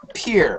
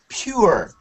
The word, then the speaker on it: pure: When you said it, it sounded like peer, okay? But you should say pure, pure, pure. Pure. No, pure. A little bit pew, pew, pew. Pure.